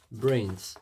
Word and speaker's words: BRNS: Alors aujourd'hui, on va parler de brains comme j'en avais dit dans le sondage Brains. Donc B RN S prononcé Brains, référence aux phrases cultes des zombies de film d'horreur se forme autour de noyaux de team clisters.